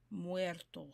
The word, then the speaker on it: Muertos: Pronounce it like it's M-W-E-R. Muertos.